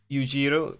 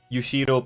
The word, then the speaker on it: Yushiro: i3 you could say yuujiro ushiro coming in hi I think I mispronounced his name we just make sure I got it right it's ushido I think yeah that that's the name so you should have